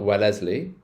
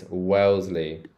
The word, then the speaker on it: Wellesley: oh this one's hard it's not Wellesley it's Wellsley Wells Le Wellsley Wellsley